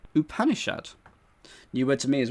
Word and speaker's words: Upanishad: you you punish out don't know how it's said because i've not heard of it it is a series of hindu sacred treaties written in sanskrit and this is how it's said upanishad upanishad new word to me